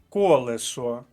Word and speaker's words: колесо: закінчуємо цей блок словом колесо перший склад колесо перший склад перша